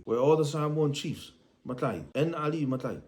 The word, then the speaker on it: matai: All the posts of the Samoan fale, the Samoan House of Assembly, where all the Samoan chiefs, Matai, and Ali Matai, Makai, those who pronounce the K, they hold the roofing, the ceiling of the Samoan fale, the House of Assembly, fale fono.